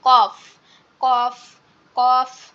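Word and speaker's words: ك: আর কাফের উচ্চারণটা হচ্ছে জিহ্বার গোড়ার তাল, মানে গোড়া থেকে একটু আগে বাড়িয়ে তারপর আবার উপরের তালুর সঙ্গে লাগিয়ে কাফ কাফ কাফ। কফ এবং কাফ খুবই সিমিলার, কিন্তু একসাথে মিলায়ে পড়া যাবে না, কোনটা কাফ কোনটা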